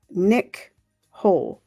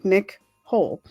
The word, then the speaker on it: Nichole: Third sentence of day 1 is Nicole. But I think because it's spelled Nichole, I say Nick Hole.